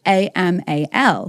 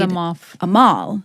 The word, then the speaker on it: Amal: Which a lot of people would read Amal. Right. And I have spent my whole life trying to explain that A sounds like E and it's pronounced Amal.